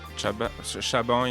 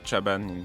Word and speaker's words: Chaban: Chaban in French, but Chaban Chaban. in English, I guess.